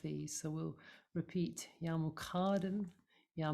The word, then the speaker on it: Muqaddim: So we'll repeat Ya Muqaddim Ya Mu'akhkhir. So the stress is in the middle syllable each time.